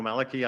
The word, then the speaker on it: Mellecke: yourself because I think I said you're last name wrong my name is Maliki I live at 264 Oakdale good welcome thank